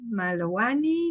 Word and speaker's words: Malowany: En Eh, realidad la W se pronuncia B, como Volkswagen como, es Volkswagen y no Volkswagen. ajá, muy Así es, bien, muy Malovani, bien.